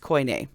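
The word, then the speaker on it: Koine: While all forms of coin a Greek are considered ancient, not all ancient Greek is co. All right? And co is spelled k o i n e, but it's pronounced coyn.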